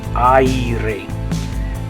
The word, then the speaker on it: aire: Okay, that one's a little hard because the A and the I sound kind of mixed together. The A and the E. I. So it's not just a straight A like the A will make in other words, but E, I, aire.